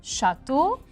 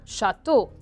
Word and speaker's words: château: château n'en a tous je vais mettre un accent circonflexe sur le a et je vais l'écrire à la fin avec eux a eu et prononcé au un château 2 2 est une